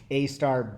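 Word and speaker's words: AStar: have discovered Sun Valley Heliski on the state-of-the-art A Star B3E, right? Am I pronouncing that correctly?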